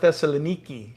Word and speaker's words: Thessaloniki: here you go thessalonica they call it thessaloniki in greek i'm not going to